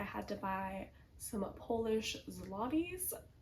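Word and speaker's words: złoty: I just got off the phone with my bank because I had to buy some Polish zlotties. Zotees is how Google says they're pronounced.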